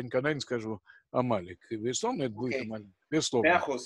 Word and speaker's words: Амалек: Для меня очень неожиданно слушать ударение Амалек. Это такая традиция? Нет, Амалек.